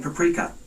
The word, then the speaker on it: paprika: The seasoning mix includes celery salt, black pepper, crushed red pepper flakes, and paprika. Paprika is how it's pronounced, Google.